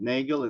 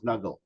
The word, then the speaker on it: Nagel: Nugle and uh this is the correct pronunciation of his last name because this it it's in German in German it doesn't sound naggel it sounds nuggle.